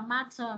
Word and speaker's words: matter: Cái chữ matter này ha, nếu mà anh nó sẽ đọc là matter, còn anh Mỹ á sẽ đọc là matter, matter ha. Chữ thờ nó không được nhắn này, nó đứng giữa hai nguyên âm này sẽ đổi thành chữ đờ các bạn ha.